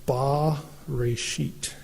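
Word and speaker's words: בְּרֵאשִׁית: And it would be pronounced ba-reshit.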